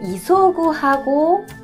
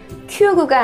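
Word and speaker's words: 急ぐ: 보시면은요, 이 급할 급자를 써서 그래서 그 이소구하고 그리고 키우니가 있는데요. 이소구라고 읽으면 이건 동사겠죠. 서두르다라는. 그 다음에 이걸 키우니라고 읽으면 갑자기라고 하는 단어로 쓰입니다. 그러니까 이렇게 급자 써놓고 구라고 돼 있으면 큐구가 아니라 이소구.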